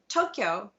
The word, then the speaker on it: Tokyo: fairly simple its logistics but Tokyo in English is two syllables so you could put Tokyo and Kyoto in your first line of a five seven five haiku right but if you're writing in Japanese Tokyo is five Morra or what we would we